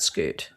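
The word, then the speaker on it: Skute: So that was Scoot. So it's spelled S K U T E.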